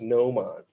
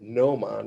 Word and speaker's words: gnomon: And then the word of the day is gnomon. So Gnomon, gnomon, where the G is silent in this case.